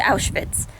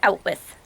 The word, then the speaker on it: Auschwitz: not be mispronouncing words call it out with out with and it's like no no maybe the word auschwitz for a nine-year-old might be hard to say and he might mispronounce it but he wouldn't mispronounce it as two english words he might say like